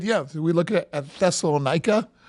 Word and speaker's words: Thessaloniki: Yeah, so we look at Thessalonica or Thessalonica. The modern city is Thessaloniki. So if you could just pronounce that a different way, that would be helpful to me. Thessaloniki, right?